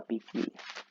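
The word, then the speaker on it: Poikile: Bueno, nos explica que toma su nombre de un pórtico llamado Stoa Piquile, pero se pronuncia Piquile, donde enseñaba Zenón de Citio.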